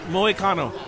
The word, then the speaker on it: Moicano: How's it pronounced? Moicano.